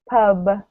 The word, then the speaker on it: pub: So a similar thing happens with P and B sounds. At the beginning of the word, it's usually okay, but then when it comes at the end of the word, the sounds can sound quite similar.